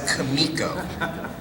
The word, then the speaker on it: Comico: last uh uh uh projects to debut from Comico or actually it's not Comico I remember Jerry jinko uh correcting me he would keep saying it's pronounced kamiko regardless of how it's spelled um and uh